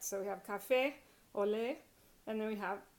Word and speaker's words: café: Café, usually, since it ends in a vowel, you would usually stress next to the last syllable, but you don't. In café, you stress the last syllable, and it is a vowel, and so you have to put that accent on there for it to be correct.